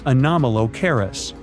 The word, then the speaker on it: Anomalocaris: The name is a bit tricky to pronounce, so I'm not going to. Okay, it's Anomalocaris, but it just literally means unusual shrimp.